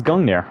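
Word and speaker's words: Gungnir: So I guess not. I guess it's Gungir.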